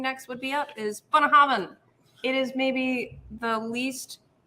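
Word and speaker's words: Bunnahabhain: would be up is bonahaven it is maybe the least uh easily pronounceable for the average american yeah because of the combination of lots of things including the bh which makes a v sound a visa yes b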